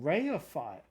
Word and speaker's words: reify: Pronounced. Oh, reify. Oh, okay. Well, depends how you pronounce your E's, right? Reify.